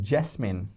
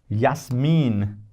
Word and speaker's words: Jasmin: J is not called J. Not even close to J. It's yacht. Yacht. And J when we use in the spellings is called Y. It is pronounced as Y. So the name if you say yes mean, you don't call it Jasmine. Yasm mean.